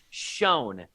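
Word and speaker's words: Sjón: of this particular writer i made sure to double check this pronunciation shone is the writer the co-writer of the northmen shone also wrote he's an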